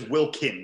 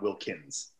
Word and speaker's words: Wilkin: i like that and his name is wilkin not wilkins okay wilkin brett wilkins